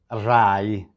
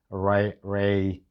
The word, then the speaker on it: Rai: main TV channel called Rai in Italian. Listen at the sound of the R, because in Italian R, now Rai, Rai, R-A-I, we say Rai, not Ray, not Rai, Rai, Rai, Rai.